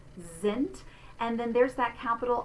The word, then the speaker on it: sind: So we're going to say that beginning letter S in the German word that's followed by the vowel sound, we're going to say it like a Z. Sind.